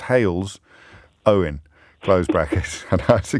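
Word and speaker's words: Halesowen: put hail's own brackets pronounced hails owen closed brackets and has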